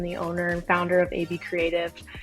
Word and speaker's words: ABCreative: I keep wanting to say ABC Creative, which how do you typically pronounce it? Is it AB Creative or ABC Creative? Um, it's AB Creative.